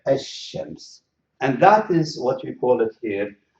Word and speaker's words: الشمس: you see here, so الشمس, so I write it in English, الشمس. So you can see this shadda indicates that I'm going to pronounce the sheen twice and ignore the lam, الشمس.